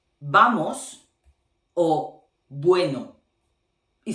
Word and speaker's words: vamos: Because in Spanish, those two letters have exactly the same sound. They have the same sound. Okay? So it's the same to say vamos or bueno.